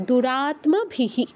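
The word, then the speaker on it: দূরাত্মভিঃ: দূরাত্মভিহি কেউ বলবো না কারণ তৈয়মকে আমরা বাংলায় আত্মা তারপর আত্ম এরকম করে উচ্চারণ করি তো নিচে যে মটা যুক্ত থাকে দ্বিতীয় যে অক্ষরটা সেটা আমরা সাধারণত স্কিপ করে যাই বাংলা তো সংস্কৃতে কিন্তু দুটোকে উচ্চারণ করতে হবে দূরাত্মাহী আচ্ছা দ্বিতীয় লাইনে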